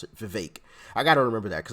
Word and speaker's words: Vivek: think it's Vivek this is how you actually pronounce it Vivek I gotta remember that because I'm always saying vivec but anyway you guys know who I'm speaking